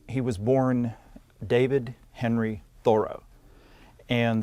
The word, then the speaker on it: Thoreau: was born david henry thoreau and the accent on the first syllable and people readers of his to begin with pronounced it thoreau if they didn't know